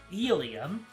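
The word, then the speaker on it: Elie: You know they pronounce her first name as Elia. You forgot the pronunciation of her surname.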